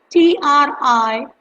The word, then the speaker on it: Triphala: Yes, it's Triphala. Tri is try, like three, and Phala, that is phala, is the Sanskrit word for the fruit, medicinal fruit.